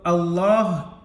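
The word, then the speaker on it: الله: ठीक है, अगर मिला कर पढ़ेंगे तो अल्लाह के लाम को पुर पढ़ेंगे, क्योंकि कायदे के मुताबिक अल्लाह के लाम से पहले ये ज़बर है।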